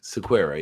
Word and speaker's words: Sequeira: Sequeira, yes.